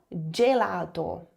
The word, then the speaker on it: gelato: Atenção, tanto o G I quanto o G e o G e vai ter som de. Então, gelato, gelato, não, gelato, gelato, generoso, gemello, gioco, jardino, porque o dei também tem som de di, com a língua entre os dentes.